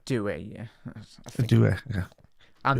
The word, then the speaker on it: Doué: I pronounced that right? Doué, yeah.